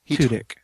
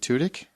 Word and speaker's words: Tudyk: played Wash in Firefly, Tudyk. Is it Tudyk? Tudyk. Yeah, you're adding vowels and stuff that are not even. There's a whole syllable you put in there.